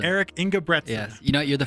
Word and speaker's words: Engebretsen: I'd like to introduce my guest on the podcast today, Eric, and now I forgot to ask how to pronounce his name. Engebretsen? It's Engebretsen. Eric Engebretsen.